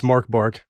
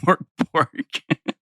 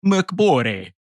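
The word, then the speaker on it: Mörk Borg: It's Mork Borg. It's not Mork Borg. Listen, we need to make our Swedish overlords happy. It's Mork Borg.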